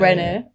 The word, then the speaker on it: Brené: I didn't know it's Brené. Oh, so I think it's Brené, with a. We'll find that out and with a little see thing who's shamed. I'm joking. We're from Leeds, Brené Brown.